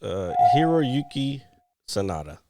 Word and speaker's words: Hiroyuki Sanada: It's Hiroyuki Sanada. Sanada. That actually is a lot easier to pronounce than I thought it was going to be.